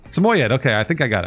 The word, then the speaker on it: Samoyed: Is that how you say it? Samoyed? Samoyed. That's what Google says. Samoyed.